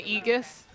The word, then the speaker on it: Aegis: Yeah, any words that are like AE are pronounced E.